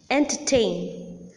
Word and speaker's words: entertain: The similarity is that in all these words that I have just now mentioned, disappoint, entertain, understand, decompose, the last syllable or the third syllable is the most prominent syllable. Hence, the last syllable receives the primary accent.